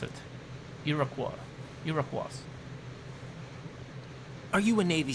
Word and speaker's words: Iroquois: That's how you pronounce it. Iroquois.